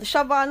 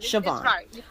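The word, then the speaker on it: Siobhan: no not at all am I pronouncing your name correctly you are doing a better job than most tell me the tell me how to pronounce your name correctly no it's right sioban okay sioban um I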